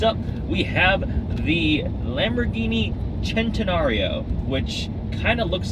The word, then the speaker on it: centenario: we have the Lamborghini centenario which kind of looks like centenario Centeno it just it looks like centenario but leave it to the Italians for one see a pronounced like a CH it is a supposed